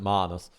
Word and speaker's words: Manus: brings me over to menace menace is it Menace or Manus I'm sure I'm sure they pronounce it Manus um I've heard menus I've heard Manus who cares so this apparently caught